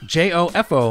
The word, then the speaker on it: Jofo: J-O-F-O. Oh, see, it seems really easy to me. For some reason, our knucklehead listeners can't spell that. Really? Yeah, they're spelling it like J-O-E-F-A-U-X. Jofo, like fake Joe.